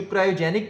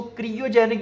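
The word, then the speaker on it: cryogenic: अच्छा, कुछ इसको क्रियोजेनिक भी पढ़ते हैं, कुछ इसको क्रायोजेनिक भी पढ़ते हैं, तो आपकी मर्जी है, आप इसको जो मर्जी प्रोनाउंस कर सकते हैं। क्रियोजेनिक भी करेक्ट है और क्रायोजेनिक भी करेक्ट है।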